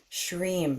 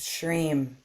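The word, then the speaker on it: Shrim: the Mantra sham so if you were to spell it it's sh r i m or sh re eem sham you could say it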